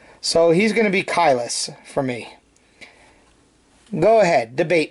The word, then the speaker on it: Caelus: So, I'm going to go with the talking pronunciation, which means a and e together like this makes the i sound as in, you know, cry.